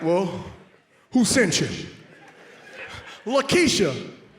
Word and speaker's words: Laq'kieche: Lakeisha. Spell it. L-A-Q K-I-E-C-H E, accent over the E, and the Q is silent.